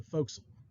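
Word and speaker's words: forecastle: get a watertight door the foxel is the forward position on the weather deck it's it it's spelled for castle okay but we don't call it that we call it the foxel okay it's kind of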